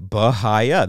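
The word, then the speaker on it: Bahia: but either way uh let's just look at it logically b-a-h-i-a okay so if I do that and I say that is it uh if you were a fifth grader in or a kindergartner and you were learning basic consonants and vowels valves vowels you would say bahaya that's what you would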